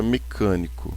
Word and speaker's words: mecânico: Porque a gente tem uma proparoxítona. Ó, última sílaba é o co, penúltima sílaba é o ni e a antepenúltima sílaba é o k. Então, mecânico, todas as proparoxítonas são acentuadas.